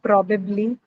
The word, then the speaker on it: probably: How about probably? Probably. Does it have three syllables? Yes, ma'am. Probably. Yeah, right. So it has probably. Okay, probably. And here again, the stress is on the first syllable.